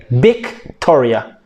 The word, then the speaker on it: Victoria: to talk why because they cannot pronounce the V like Victoria for example if you are called Victoria they would say big Toria not Vick but Victoria everything that starts with